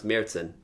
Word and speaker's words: Märzen: as James told us it is actually supposed to pronounce Mayerson that's how I'm gonna happen there's an a right there with an umlaut right that's what we're